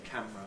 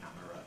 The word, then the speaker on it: camera: categorical compression in camera I have to say camera as two syllables I can't really you know in my own English pronounce it as camera although I know some people do say camera and historically that's clearly what it was Factory I think has